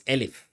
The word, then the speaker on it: elif: here, I call this elif. Okay. So when I use when I say else if, I will be spelling elif, just like in English. Think of the S is silent or whatever.